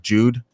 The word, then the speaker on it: JDE: I did this on purpose for you to have two ways of saying it, JDE, but it's actually meant to be pronounced Jude.